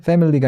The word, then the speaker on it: family: FA 다음에 MI가 찍히는데 그 I 슈합니다. 강세가 앞에 fe에 있어요. fe. 그리고 family 할 때 그 fe는 그 이제 턱 벌려야 되는 에예요. 그래서 family가 아니라 family라고 발음해주는 게 맞겠죠. 자, 근데 포인트는 family가 아니에요. 여기 중간에 있는 I는요, 슈합니다. 해서 family, mully 이런 식으로 발음하는 게 맞지 family라고 발음해서는 안 돼요.